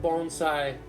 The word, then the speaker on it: bonsai: Literally, of course, the word bonsai, bon and sai, two syllables, from the Japanese language, tree, pot.